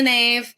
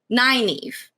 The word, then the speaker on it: naive: on two baby um i pronounced it in the nave i will tell you lion heart leah hey i don't wanna break your heart or anything it is canonically naive yeah that's the right pronunciation makes a lot of